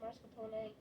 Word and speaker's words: mascarpone: Say it like the fancy people and say mascarpone.